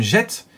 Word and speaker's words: Gete: un collectionneur éclairé appelé guillaume gete et non guette parce que c'est lui